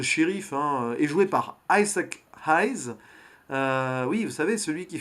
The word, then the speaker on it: Isaac Hayes: Isaac Hayes, on va bien prononcer le nom à l'anglaise.